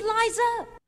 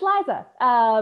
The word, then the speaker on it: Liza: It's Z instead of S, Lie instead of Lee. It's simple as can be, see Liza. All right, so hopefully you can hear that. No worries if not, but my name is Liza.